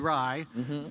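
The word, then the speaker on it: Rai: yes you can remember you can remember Ry because it's pronounced exactly like the drink for those under 18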